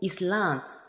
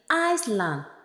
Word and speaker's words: island: se refait au mot Islande malheureusement cette référence donne lieu à des prononciation erronées nous aurons tendance à dire Iceland et pourtant le S de notre mot est muet et nous le prononcerons Island mon numéro 4 il